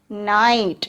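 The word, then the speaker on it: knight: How can we pronounce this word? K-N-I-G-H-T. This is night.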